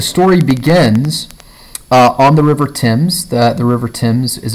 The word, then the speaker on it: Thames: okay so the story begins on the River Thames the the River Thames is a river that runs through London it's very famous river okay so it's spelled tames or Thames but it's pronounced Tim's so ask the English why I don't know